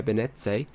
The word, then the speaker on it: Benet: Mike Grandy and Pierre Benet Benet it's not Italian it's French hm okay maybe I'll